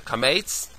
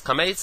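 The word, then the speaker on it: קמץ: and those are the Kametz, Segol, Tzerei, Chirik, Patach, Shurik, and Cholim. Those are pronounced as follows. Kametz is O, Patach is A, Segol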